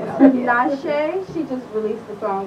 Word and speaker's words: Tinashe: think the last song i need help pronouncing her name tanashi tonight i love her i thought it was denisha tinashe she just released the